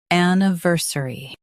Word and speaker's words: anniversary: In US, stress ver. In UK, stress niv.